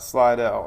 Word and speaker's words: Slidell: another louisiana folk slot slidell is how you say it slidell what's up marcia